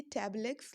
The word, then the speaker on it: Tableaux: ये टैबलेक्स लिखा है लेकिन इसका प्रोनाउंसिएशन हम टैब्लू ही करेंगे।